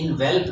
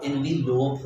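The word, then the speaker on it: envelope: के कहते हैं की इन वेल दे दें अच्छा इन वेल नहीं होता बल्कि वो एनवी लोपेज़ होता है बीबी लोग और लोग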